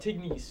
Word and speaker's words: Tignes: Tignes. He's the guy. Teens, it sounds.